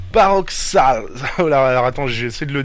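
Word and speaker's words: Barockstadt: Et après Villa Dylan elle arrive à Baroxal. Alors attends, j'essaie de le dire, c'est Barockstalt. Ça s'écrit B-A-2-R-O-C-K-S-T-A-D-T, qui est au final une université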